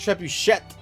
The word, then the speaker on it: trebuchet: It's pronounced trebuchet.